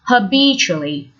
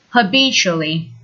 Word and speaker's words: habitually: the first adverb is habitually with the stress on the second syllable habitually instead of saying every